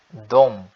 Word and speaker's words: de: último nós temos a pronúncia irregular Dom né que se escreve D mas se fala Dom eles e elas certo